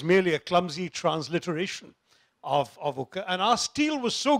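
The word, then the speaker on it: ಉಕ್ಕು: steel was in Kannada, ukku steel, and ukku could not be pronounced by Europeans, so they said wuk and wuts, and finally became wood steel, which looks vaguely Germanic.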